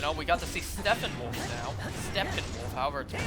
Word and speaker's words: Steppenwolf: we got to see steppenwolf now however either with f where you actually pronounce the p sounds up next are we